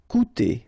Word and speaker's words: Coûter: Okay, keep in mind that even if you've got this accent circumflex on the top of U, it doesn't change the pronunciation. So it doesn't change this combination of two vowels here. So it will be OU. Okay, coûter.